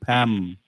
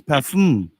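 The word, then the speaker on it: PAFM: But you're still calling the name wrong, you're still saying Pam. It is Parfum.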